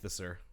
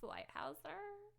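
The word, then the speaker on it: Leithauser: Leithiser. It's pronounced Lighthouser.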